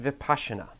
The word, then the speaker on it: Vipassana: vocabulary lesson is for the Vipassana article it's pronounced Vipassana let's start with the word kidneys in the